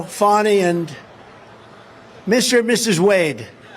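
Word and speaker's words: Fani: fny it's spelled Fanny it's spelled Fanny like your ass right Fanny but when she became da she decided to add a little French a little fancy fny fny and you know fonny and Mr and Mrs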